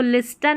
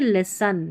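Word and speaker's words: listen: People who अब इसको लिसन नहीं लिसन लिसन पता चल गया कि एस के बाद में जो टी है वो साइलेंट है लिसन फिर यहां पर देखें टी आई को श पढ़ना है।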